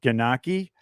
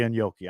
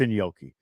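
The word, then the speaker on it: gnocchi: that I love that some people pronounce it ganaki but it's really in Yoki I'm Italian it's in Yoki just like they say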